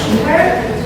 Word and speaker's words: Shimper: My people pronounce me Shimper, and if you want to go, I just raise your hand.